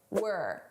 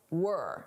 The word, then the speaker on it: we're: It sounds like were, not we're were. This is how native speakers say it at a natural pace.